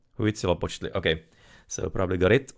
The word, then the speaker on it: Huitzilopochtli: The tz is supposed to be practically like a s in there, the z. Z. Ch is practically ch and x is supposed to be like a sh.